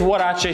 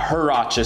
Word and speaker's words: huarache: into our wardrobe now anyway first let's talk pronounciation it is what a Shea sandal and it's not her rakia sandal that's how I think I originally pronounced